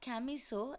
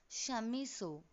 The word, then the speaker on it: Chamisso: It is Adalbert von Chamisso. The V should be pronounced like F, and it is not Camiso, it's Chamisso.